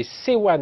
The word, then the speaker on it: Sewan: Vous êtes directeur associé chez C1, alors ça s'écrit S-E-W-A-N, communication.